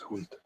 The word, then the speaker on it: Hund: Yeah, Hunt is dog in German. It's pronounced Hund.